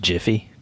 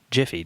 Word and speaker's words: Giphy: For those of you that don't know, Giphy is a like an iPad printless photo booth that simply I think it's pronounced Jiffy.